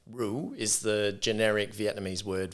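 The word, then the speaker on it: rượu: gal among other names Ru is the generic Vietnamese word for wine Aussies you can say it like Rue you know kangaroo but with a deep voice anyway it isn't commonly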